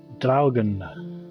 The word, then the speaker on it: Draugen: I know that there have been videos out there that just said Draugen, but I believe that it's called Draugen, so I'm going to call it Draugen.